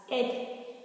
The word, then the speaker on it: ate: be, which is ate, is pronounced as ate, just like the numerical figure number 8, the numerical adjective number 8, which is spelled as E-I-G-H-T.